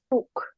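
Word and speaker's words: Tuch: দাস দাস টর্চ মাফটাকে toss বলবে না উচ্চারণ ভাবে টি ইউ সি এইচ টুক হ্যাঁ দাস টুক দাস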